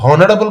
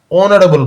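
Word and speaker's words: honorable: আবার এখানেতে অনারেবল girl, অনারেবল গার্লে এইচ দিয়ে শুরু হয়েছে, কিন্তু আমরা উচ্চারণটা কি হনারেবল গার্ল করি না, আমরা উচ্চারণটা করি কি না অনারেবল গার্ল, অর্থাৎ ও এর উচ্চারণটা করি, ওটা ভাওয়েল, সেই জন্য আমরা অ্যান বসাই অনারেবল গার্লের আগে।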